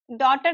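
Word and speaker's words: daughter: डॉटर की spelling में जी H silent होता है।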